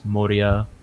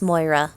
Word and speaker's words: Moira: hand raise up towards Moria and Keegan. That You name don't is know- pronounced Moira, by the way. Moira, sorry. No worries. I'm bad with names. It's okay. Irish is weird.